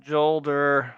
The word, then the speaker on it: Jolder: It's pronounced Jolder. I don't go by J.